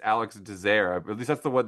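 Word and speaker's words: Alex Désert: You know, I'm so glad that I apparently his name is pronounced Dair. I've always wondered, is it Alex Dessert? Alex Desert. How do you say his name? And it's Alex Dazer.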